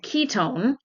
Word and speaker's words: Qitone: enough to make the ketones. And I came across a company called Ketone and it is spelled Qi Tone, but it's pronounced Ketone.